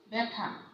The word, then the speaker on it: ব্যথা: আদ্য মানে শব্দের শুরুতে আদ্য বর্ণে যদি জ ফলা যুক্ত হয়, হ্যাঁ, যেমন দেখো ব্যথা, আদ্য বর্ণে জ ফলা যুক্ত হয়েছে, তাহলে এই জ ফলা যুক্ত ব্যঞ্জনটি কিন্তু একারান্ত উচ্চারণ হবে, একারান্ত।